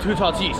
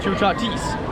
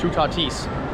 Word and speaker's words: Toutatis: might be like why are you calling it t tatis it's tatis well actually um our our friend Antonio uh it's a professor and he told us it is in fact pronounced chatis so I don't really care what you call